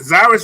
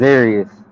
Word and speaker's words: Zarius: Is it Zyrus? How you pronounce that first name? It's actually pronounced Zarius. Zarius.